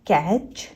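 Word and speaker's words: catch: TCH word, TCH word में सिर्फ CH का साउंड होता है, T साइलेंट होता है। कैच, बैच, फैच, पिच।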